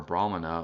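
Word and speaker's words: brāhmaṇa: a bit confusing but Brahman or brahmana with a long a in the first syllable ah Brahman um that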